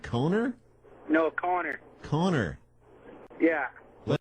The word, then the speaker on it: Connor: No, Connor. Connor. Yeah. But it's spelled Connor. It's Connor.